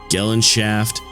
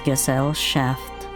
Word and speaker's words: Gesellschaft: She operates through the Gesellschaft. Actually, it's pronounced as Gesellschaft.